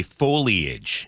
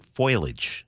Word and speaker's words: foliage: I heard Paul say foliage. Yes. Now, a lot of people I know pronounce it foilage.